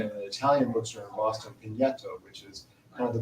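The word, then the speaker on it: Pigneto: And then at another point, we went to, which I was just taught how to pronounce this last night, in an Italian bookstore in Boston, Pineto, which is kind of the Brooklyn of Rome.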